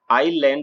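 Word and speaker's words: island: आईएस ए एन डी तो हम इसे आईलैंड बोलते हैं ऐसे यह साइलेंट रहता है आई और के बीच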